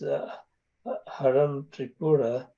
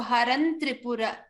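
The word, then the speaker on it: हरन्त्रिपुर: So Haran Tripura. Haram and Tripura becomes Haran Tripura because in the Varga, Tatha Dadha Na.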